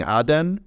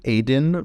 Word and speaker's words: Aden: six years of coverage I've been pronouncing it aen but actually uh some recent research has indicated to me that I should go with Aden so the city of